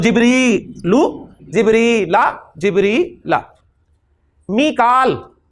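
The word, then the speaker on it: ميكائيل: मीकाल, कुरान में मीकाल का है, मिकाइल भी प्रोनाउंसिएशन है इसकी, तो मीकालु मीकाला मीकाला।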